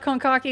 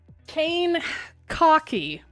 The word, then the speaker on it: Kankakee: It's not Konkaki. It's not like the selfie tucker thing. Kane Kaki. Wait, which one is it? It's apparently Kane.